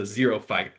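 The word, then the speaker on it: xerophyte: Uh, the scientific name for a desert plant is a zeropight spelled with an X.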